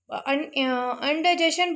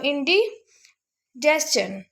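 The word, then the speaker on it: indigestion: उसके बाद है जी बदहज़मी, इसको लोग अक्सर अनडाइजेशन बोलते हैं, लेकिन ये गलत वर्ड है, गलत प्रोनाउंसिएशन है। असल इसकी प्रोनाउंसिएशन है जी इंडिजेस्शन, इंडिजेस्शन, इंडिजेस्शन।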